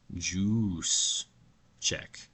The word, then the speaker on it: Juszczyk: Kyle Patrick, it looks like juice check. But when he gets the ball, the fans go "use," right? But I think they're subtly saying "juice."